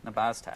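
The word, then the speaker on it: Nabaztag: I love it the nabaz tag nabas tag that's correct all right everybody will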